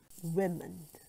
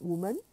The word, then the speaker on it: women: Women. Women. Not woman, but women.